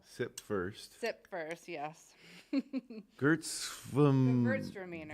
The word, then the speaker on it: Gewürztraminer: Gewürztraminer. It rhymes with girls are meaner, if that helps. Gewürztraminer. Yeah, that makes it a lot easier. Yep. So Gewürztraminer is a semi-dry.